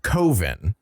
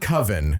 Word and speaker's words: Coven: making a horror movie called koven yes not coven kov specifically sh you this yeah